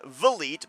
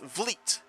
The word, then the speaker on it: Vliet: Okay, so I am so used to wanting to call him Vliet, but it's Vliet. So 1 for 1 tonight. Chris Van Vliet. Yep. It's like fleet, but with a V. Not 2 syllables.